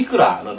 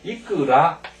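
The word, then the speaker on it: いくら: 다만 이제 기초에서 말씀드리긴 좀 못하지만 이것을 이제 발음을 할 때 이끄라 데스까 하면 안 돼요. 제일 앞에 있는 이가 굉장히 높습니다. 그래서 이끄라 데스까 이렇게 반드시 읽어야 됩니다.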